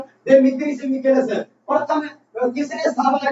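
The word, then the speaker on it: Δημήτριος Βικέλας: तो यहाँ पर गलती लिखने में हो सकती है, लेकिन जो उच्चारण प्रोनाउंसिएशन कर रहा हूँ देमित्रिस विकेलस।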